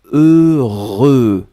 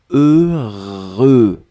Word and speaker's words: heureux: deux fois heureux donc ne ne regardez pas le h ne regardait pas le x ne regardait pas le eu juste fermer les yeux visualiser c'est cette combinaison heureux heureux et après vous allez voir c'est assez facile à prononcer deuxième chose concernant ce